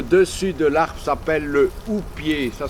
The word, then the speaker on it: houppier: Quand on abat l'arbre, comme vous avez vu plus loin, le dessus de l'arbre s'appelle le houppier. Ça s'écrit H-O-U-2-P-I-E-R.